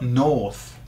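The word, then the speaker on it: norte: north of some place the word is nor n okay sounds like naughty doesn't it n so some people say that the people from the north are naughty if you're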